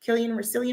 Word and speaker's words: Cillian: Cillian Murphy? Yeah, I think that's how you pronounce it.